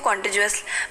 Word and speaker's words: contiguous: Basically contiguous पढ़ते हैं इसको, contiguous भी पढ़ देते हैं लोग, लेकिन contiguous जो है इसका सही प्रोनाउंसिएशन है इसका.